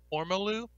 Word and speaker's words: Ormolu: I was like, how do you pronounce that? It's apparently Ormolu, and it's the 18th century gilding technique for applying finely ground high carat gold mercury amalgam.